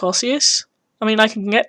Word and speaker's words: osseous: day 21 osseous um which i realize i have been pronouncing wrong i was like obvious um but no it's osseous apparently or rosius and this was a